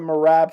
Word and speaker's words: Merab: What did you think about the Merab fight? Or Merab, I think is how you pronounce it technically.